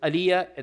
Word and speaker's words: Alija: Uh his name is Aliyah. There's a J in it, but the J is pronounced Y.